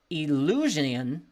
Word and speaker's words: Eleusinian: his Reflections upon the attractive power of the illusion illus illan Mysteries I'll spell that e l e u s i n